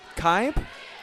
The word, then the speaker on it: Kaib: Evan Kaib, is that how you pronounce his last name? Yes.